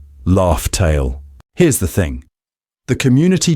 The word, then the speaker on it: Laugh Tale: in plain sight that we've all been mispronouncing for 20 years. Raftel or Laughtale.